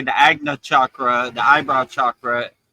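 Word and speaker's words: Ajna: I always pronounce the third I wrong. But Agna. Agna, yeah.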